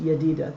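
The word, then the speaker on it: Jedidah: is how it's pronounced yadida the j is pronounced like a y the uh fatty cool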